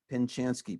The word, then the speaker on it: Pinchanski: to see name it's right there helen pinchanski p-i-n-c-h yeah what's that you know how